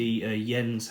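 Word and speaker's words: Jens: got my ring from a wetter workshops the yen's Hansen and it is hymns which is hey the pronounce it in New Zealand it's not in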